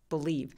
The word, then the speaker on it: believe: 아까 준님이 말씀하신 것처럼 강세는 앞으로 밀어서 목소리 톤을 조금 낮춰서 얘기하시면 좋아요. believe, believe.